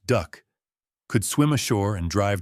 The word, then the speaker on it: DUKW: DUKW amphibious trucks, the name derived from manufacturer codes, but inevitably pronounced duck, could swim ashore and